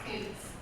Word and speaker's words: Coots: Is it Cutts or Coots? It's Coots.